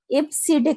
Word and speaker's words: EBCDIC: Decimal interchange code का, जिसको आप IBCDIC के नाम से भी प्रोनाउंस कर सकते हैं।